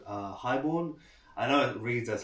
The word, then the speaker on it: HIGHXBORN: You can see it's called uh Highborn. I know it reads as High Xorn, but it's actually pronounced Highborn.